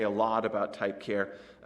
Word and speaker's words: char: known as a c-h-a-r some people pronounce that as char i think that's wrong i pronounce it as care you know this is one of these things if you've got a bunch of programmers in a room you'd find half of them say one and half say the other and they might fight each other over it if you let them you know so you can you can pronounce it however you want you can see